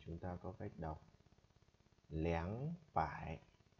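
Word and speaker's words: 两: 200 thì chúng ta có cách đọc lẻng bảy. Tại sao người ta không đọc là er bảy?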